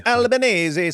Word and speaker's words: Albanese: Oh, it's it's an Italian name that is Albanesei. It's Albanzi.